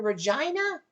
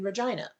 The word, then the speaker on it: Regina: Peter says, I have to move to Regina? It rhymes with a female body part.